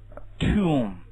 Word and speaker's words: tomb: not b right OK 注意坟墓 tomb 梳子 pottery 这个念 tomb 这